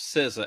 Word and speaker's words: SZA: SZA. I was expecting. That's how you pronounce that? Yeah. Okay. Like RZA and Jizza from the Wu-Tang.